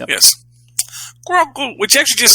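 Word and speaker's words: Grogu: g r o guu grou just like it just like it sounds yes grou which actually just sounds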